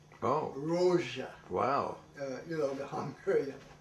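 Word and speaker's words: Rózsa: So they pronounce it Miklos. Oh. Rozsa.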